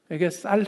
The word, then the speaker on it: 쌀: 오늘날로 치면 경상도 사람에게 쌀 해봐. 그럼 경상도 사람은 많은 경우에 살이라고 합니다.